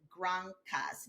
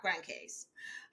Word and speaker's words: Grand Case: That is, by the way, how you pronounce it, Granas, not Grand Case.